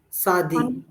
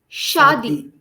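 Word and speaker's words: शादी: time Shadi very good the sh that you are pronouncing right now remember the movement of your tongue and the placement of your jaw when you said Shadi to me right now in the future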